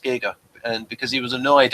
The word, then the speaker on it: Giger: and and folks people are thinking oh it's pronounced Gyer well he actually said we actually wrote In the book that uh no it's pronounced Giga and because he was annoyed at Americans calling him Giger when he won his Academy Award and say